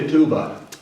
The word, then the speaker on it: ketubah: thing called a ketubah in america they call it a ketubah that's sort of a yiddish pronunciation is a contract this